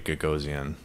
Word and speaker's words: Gagosian: There's a really good article that I read this morning about Larry Gagosian, I believe is how you pronounce his name.